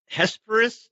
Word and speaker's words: Hesperus: you started one you're from drangle area it's Hesperus is that how you say it yeah you